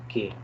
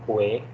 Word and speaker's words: qué: Okay, the pronunciation I have to tell you, it is just "k." Okay, don't say "que."